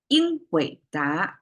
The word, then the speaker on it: 英伟达: 英伟达 is today's Nvidia, right? And that's how it's pronounced.